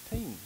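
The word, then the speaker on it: טין: But if we go to miry clay, it's H2917, and it's also an Aramaic, and it's spelled T-I-N and pronounced teen.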